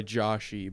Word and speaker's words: Joshy: he goes by Joshy, but the E is silent. He's just Josh.